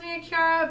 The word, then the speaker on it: Chiara: it Chiara of midday I'm Kara because I have a friend and that's how you pronounce her name and the only difference is a H so I don't know